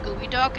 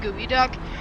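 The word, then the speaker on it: geoduck: Nothing could have prepared me for the fact that there's a real thing called a gooey duck and it's spelled geod duck even though it said gooey duck and it's a freaking clam or something.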